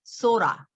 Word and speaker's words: sort of: sort도 어때요? 이 트 발음도 마치 뭐라 그래요? 플랩 사운드라 그러죠. 예. 그러니까 water처럼 water 할 때 water 안 하고 water 하듯이 sorta 이렇게 발음해요.